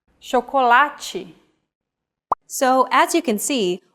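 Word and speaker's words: chocolate: or like this sintu when paired with age forming the Digraph CH we have the sound shokolachi so as you can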